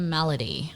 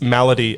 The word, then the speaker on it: malady: my ladies tips fedora no it's malady as in like yeah condition yeah melody comes from the word mal which is french for bad yeah like malnourished yeah